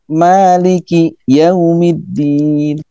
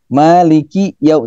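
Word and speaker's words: مالك يوم: Maliki Yaumiddin. Maliki yau, tidak boleh dibaca malikiyau. Kiyau, kiyau. Nah, kiyau itu tidak dibenarkan menurut mazhab Alawi ya.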